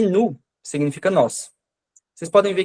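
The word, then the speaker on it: nous: Por exemplo, aqui no il com s, no l com s e no nu que eu pronunciei, eu não tô pronunciando esse S, né?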